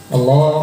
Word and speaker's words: Allah: Banyak yang bukan menebalkan lam, tapi menambah waw. Jadi dia mengucapkan Allah itu bukan Allah, tapi Allah.